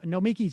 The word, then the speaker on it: Nomiki: The problem with the pronunciation of Nomiki's name is that he puts the emphasis on the key, but here in America, we insist the emphasis is always on the me.